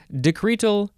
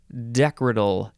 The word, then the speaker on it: decretal: is decretal or decorative emphasize the first syllable or the second syllable decretal decretal d-e-c-r-e-t-a-l noun from the